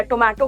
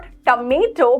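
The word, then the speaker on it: tomato: Okay, so इट इज नॉट टमेटो, बट इट इज टमेटो.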